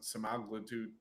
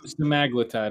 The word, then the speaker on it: semaglutide: It's virtually guaranteed that we're going to have GLP-1s on the platform, whether it's liraglutides, semaglutide. I'm trying to pronounce it how Liraglutide. Yeah, it's semaglutide according to Duke.